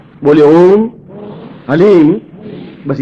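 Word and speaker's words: ह्लीं: बोलिए ओम हलीम बस ये हलीम शब्द बहुत ध्यान से उच्चारण करने देना एच ए एल ई ई M haleem कोई बोले हरीम कोई बोले हीम तो कुछ फायदा नहीं होगा हलीम हलीम ह आधा है ओम वापस बोलना ओम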